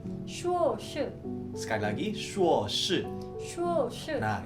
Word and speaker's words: 硕士: 学士 Nah, kalau S2 kita bacanya itu 硕士. 硕士 Sekali lagi 硕士.